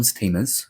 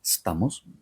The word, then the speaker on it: Stamos: Director Alexander Payne, actor Ralph Macchio, from Karate Kid, actor John Stamos, as you say in the United States, but it's John Stamos.